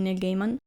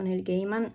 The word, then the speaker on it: Neil Gaiman: Recentemente mi sono scaricata The Sandman di Neil Gaiman. Edit veloce, riguardando il video in editing mi sono accorta che ho detto Neil Gaiman, si dice Neil Gaiman, non so perché l'ho pronunciato così, mi è glitchato il cervello, scusate.